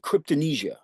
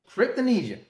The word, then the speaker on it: Cryptomnesia: actually pronounced Cryptomnesia. Cryptomnesia.